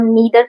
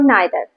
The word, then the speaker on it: neither: First of ऑल मैं आपको यह बता दूं कि अमेरिकन इंग्लिश में इसे ईदर और नीदर पढ़ा जाता है, जबकि ब्रिटिश इंग्लिश में आइदर और नाइदर। तो आप कंफ्यूज मत होना, आप जैसे भी चाहो वैसे प्रोनाउंस कर सकते हो, दोनों करेक्ट है। तो चलिए शुरू करते हैं।